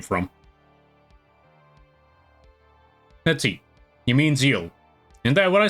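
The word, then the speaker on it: Zexal: Yeah, it's Zeal. That's how you pronounce it, Zeal. I thought it was Zexel.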